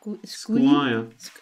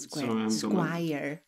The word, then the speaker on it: Squire: So, Square? Is that Squire. Okay, it's not Square.